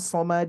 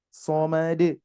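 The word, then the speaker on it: صمد: e apa sebelum Dilanjutkan nanti pengucapan Somad itu seperti ee ini ya seperti misalkan kita SH Ma De Nah itu ya Somad Nah itu Bu Somad jadi d-nya itu jelas Somad coba Somad Somad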